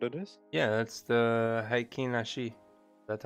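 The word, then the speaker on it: Heikin Ashi: Yeah, that's the Haikin Ashi.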